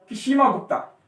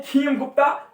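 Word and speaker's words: क्षेमगुप्त: वो था किशिमा गुप्ता। कौन था? किशिमा गुप्ता। कुछ इसको पढ़ते हैं खीम गुप्ता, कुछ पढ़ते हैं इसको शीम गुप्ता। कोई बात नहीं, अपनी लैंग्वेज में पढ़ो, लेकिन आपको याद रहना चाहिए, स्पेलिंग वगैरह याद रखना।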